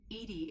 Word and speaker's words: EDI: are you named Edie Edie is the phonetic pronunciation of EDI is an acronym for